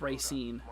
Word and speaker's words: Racine: is uh Kaylee says Racine oh okay it's Racine gotcha gotcha thank you for uh for let me know like I said pronunciations that's one thing I'm terrible at while